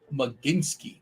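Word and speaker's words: Mlodzinski: All right, so Matt is telling me that's pronounced Maginski.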